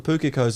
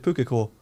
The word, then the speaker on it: pukeko: picked up on how it sounded odd to pronounce that word correctly and then add an S to it certainly because people mispronounce it when they speak about it oh look at all the Pookie codes over there instead of pukeko look at all the puka core plural that's another one it's